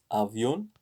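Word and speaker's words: avión: maletas estan en lavion avion the thing is there is yeah avion there is an accent on the o here so i should rectify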